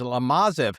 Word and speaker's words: Lomazov: I mispronounced your name in the beginning. It's Lomazov.